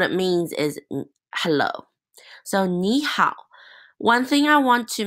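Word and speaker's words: 你好: So ni hao. One thing I want to mention is that it's not ni hao. The way that you pronounce A and O together is similar to the te reo pronunciation, so it's ni hao.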